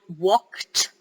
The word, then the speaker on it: walked: every day yeah i walked to school yesterday so it's ed but it's pronounced as almost like tea right i walked to